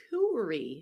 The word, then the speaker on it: coup: this us back Cy Cy yep how do you spell that with au so it's c o u p r y and the why is there a p there's a p in coup I know I'm kidding